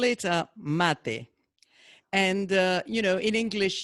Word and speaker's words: mate: we call it a mate and you know in english you write a stress on the final e so that we don't pronounce it mate but it's a mate and people like malu